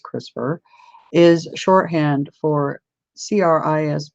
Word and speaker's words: CRISPR: also raises ethical concerns in popular usage CRISPR pronounced CRISPR is shorthand for CR is PR - C